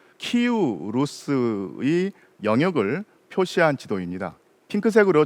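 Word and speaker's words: Київ: 자, 지금 보이는 지도는 동슬라브인들이 처음으로 세웠던 국가, 즉 키우 루스의 영역을 표시한 지도입니다. 핑크색으로 처리되어 있는 부분에 동슬라브인이 최초의 국가를 세웠는데 그 시기가 8세기나 9세기쯤이었죠. 예전에는 키예프라고 불렸던 도시, 그러다가 요즘에는 우크라이나 발음을 존중해서 키우라고 불러주는데, 이 키우가 가장 중심이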